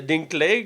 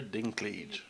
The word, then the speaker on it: Dinklage: On a Peter Dinklage, là, comme j'ai dit. J'essaie, je le prononce mal. Tu le maganes tellement. Parce que quand tu. Dis-le pour moi, Ok, c'est Peter Dinklage.